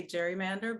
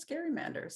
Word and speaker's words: gerrymander: um by the way he's pronouncing gerrymander correctly uh most people say gerrymander but technically it's scary Manders so a little something